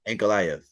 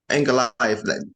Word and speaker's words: Ankalaev: That's how I pronounce his Oh, name correctly. Ankalaev. Ankalaev.